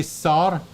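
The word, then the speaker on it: שר: ruler or Prince okay SAR it's a good way to remember it because they call like Czar like a bar and this is a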